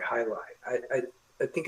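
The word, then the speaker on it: jai alai: time and there was this sport um called highlight which I think is spelled J AI and then L AI. highlight.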